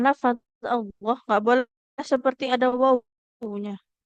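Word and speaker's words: الله: Jadi enggak ada bunyi wau sukunnya. Jadi enggak jangan lagi baca lafaz Allah au tidak au tapi Allah.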